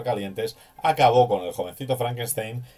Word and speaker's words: Frankenstein: My name. It's pronounced Frankenstein. You must be Igor.